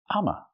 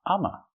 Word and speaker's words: I'm a: this is not correct Americans would say Amma instead of I am they would say Amma